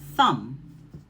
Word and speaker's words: thumb: And when you see that pattern, the B is silent and you're going to pronounce the M sound, like lamb, climb, or thumb.